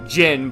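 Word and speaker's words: Zin: inevitable confrontation with with Zen. I know they they pronounce it Jyn, but I'm going to keep calling him Zen unless someone tells me otherwise. It's just what I'm used to, I guess.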